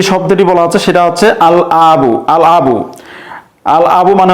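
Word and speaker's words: الأب: হামজা দ্বারা প্রথমে যে শব্দটি বলা হচ্ছে সেটা হচ্ছে আল আবু। আল আবু, আল আবু মানে হচ্ছে বাবা। এখানে এখানে দেখা যাচ্ছে যে আবুনের পূর্বে আলিফ লাম যুক্ত হয়েছে এবং এই লামটি উচ্চারণ হচ্ছে আল আবু অর্থাৎ বাবা।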